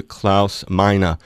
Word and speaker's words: Klaus Meine: hello and welcome to klouse mina from the Scorpions Aloha Claus hello Dave how you doing I'm very good and and is that the correct pronunciation of your name yeah perfect good making sure that's